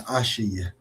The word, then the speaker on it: Asha: Your Asha, yeah, that's how you say it.